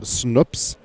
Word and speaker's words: Snoops: Yeah, you pronounce his name Snoops, by the way, as in like Snoopy.